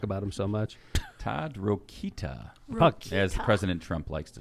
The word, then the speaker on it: Rokita: in the audience and pronounced it like he never heard the name before he goes ta rokita thank you very much you're doing a great job you said something to those and todd rokita was down there to